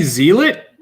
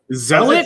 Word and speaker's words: zealot: building this did you say zealot sell it zelda zealot my bad yeah it's the word zealot zealot i always say zealot